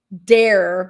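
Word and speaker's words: Dahir: Then our girl, Dr. Dare, but it's spelled D A H I R.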